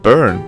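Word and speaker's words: Byrne: awesome in North America his name is B burn but you don't look Irish well apparently it's one of s this puns as burn sounds like the word burn which you have to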